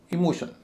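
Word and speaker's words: emotion: जैसे इमोशन इमोशन शन से पहले ओ है वो भारी है उससे पहले वाला हल्का।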